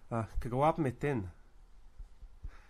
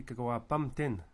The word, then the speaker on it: kagawapmitin: if I'm wrong, but I think we say kagawapmitin. And it seems to me that the main syllable is wap, and then the last one is in. Now in other dialects of Cree, kagawapamtin, and you end up the emphasis on the which is actually the third syllable from the end.